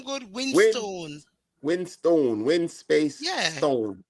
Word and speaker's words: Winstone: just type in Winston when you get over there. All right. It's not Thank you. Winston. You can pronounce the name good. Win Winstone.